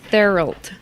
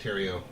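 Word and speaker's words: Thériault: It's like Therault. Yeah. That's not right. That's English. How do you say it? Rock Terrio. It's Terrio? That's how you're supposed to say that?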